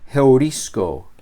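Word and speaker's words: εὑρίσκω: Y en estos casos, el espíritu se coloca sobre la segunda letra del diptongo. Como en esta palabra aquí tenemos un espíritu fuerte, esta palabra se pronuncia heurisco.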